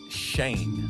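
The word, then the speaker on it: Schoen: it's our new gm i know it's spelled a little funky but it's pronounced shane i've been seeing people butcher that all really yeah it's pronounced shane it's it's uh german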